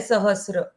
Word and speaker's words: सहस्र: सहस्र नाम, ये जो वर्ड है सहस्र, ये सहस्र ठीक है।